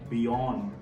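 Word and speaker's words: beyond: going to tell you हमारा first word है बियोंड बीई वा वा ओ एन डी अब ध्यान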